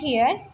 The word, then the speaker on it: hair: बट यहाँ पे देखिए हेयर, हम इसे एयर नहीं पढ़ रहे हैं, हेयर, हा की आवाज़ आ रही है, H की आवाज़ जो है वो आ रही है, ओके, हेयर।